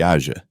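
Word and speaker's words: Eja: O seu filho, aja, pronuncia-se aja, nasceu a 12 de agosto de 2001.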